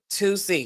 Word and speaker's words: 2C: 2C, because that's how you pronounce it, because it's like the two.